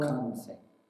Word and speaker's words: Makhan Singh: Makhan Singh is how he pronounced it.